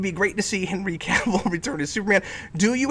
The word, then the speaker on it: Cavill: it would be great to see him henry cavill return as superman oh by the way real